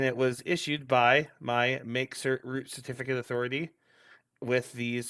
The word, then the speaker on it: mkcert: We're talking about MakeCert this week, which is how I believe you pronounce it, but it's spelled MKCERT.